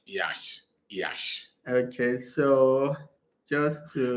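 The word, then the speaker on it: Iași: So it's pronounced Yash. Yash.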